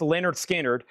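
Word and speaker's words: Lynyrd Skynyrd: Leonard Skard pronounced Leonard Skinnard $36.99.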